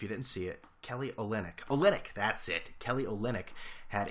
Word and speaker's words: Olynyk: Olenek. That the play last game, if you didn't see it, Kelly Olynyk, that's it.